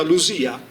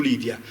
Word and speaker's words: Lidia: iniziale nella prima sillaba, e la D più I più vocale all'interno di parola si leggeva come la nostra S sonora, quindi diventa Lusia, non è più Lidia.